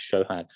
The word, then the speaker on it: Sohag: i will know because actually my name is spelt so had but it's pronounced shohan i wouldn't expect people